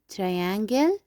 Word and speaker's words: triangle: And here we have triangle. triangle. We will not pronounce E at the end of the word.